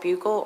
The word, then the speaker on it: buccal: inside of their cheek they're either called buccal or buccal swabs know just depends on where you're from as to how you pronounce it exactly whether it